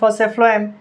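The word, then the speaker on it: phloem: Food फ्लोएम से food फ्लोएम, मैं पी नहीं बोल रहा हूँ क्योंकि इसके स्पेलिंग में PH है, इस वजह से F से फूड F से फ्लोएम नहीं बोल रहा हूँ।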